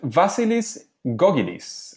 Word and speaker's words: Vasilis Gkogkidis: engaging learning materials and today we are with vasilis gogis and this time I think I did say